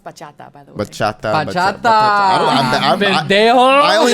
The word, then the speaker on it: bachata: like too old do you know how to bacheta or salsa or i don't like if you ask me to do it right now no but i know like the general steps okay um okay it's pronounced bachata by the way i only know how to